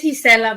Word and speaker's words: Gisela: So when they would say it wrong, in my mind, I would say it's Gisela, but it's okay.